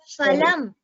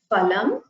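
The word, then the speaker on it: फलम्: Phalam. Fruit. Here again, it is not phalam, it is ha. You should pronounce the pa with the hakara distinctly. Ha.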